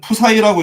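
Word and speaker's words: ψ: 얘는 푸사이라고 읽는데 푸사이.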